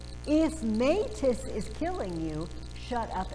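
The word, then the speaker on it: μῆτις: And they say, if metis is killing you, shut up and go back to sleep. Here's the joke. The word, if you put those two syllables together and make them one word, it's metis, and it means craft, trickery, cleverness, cunning.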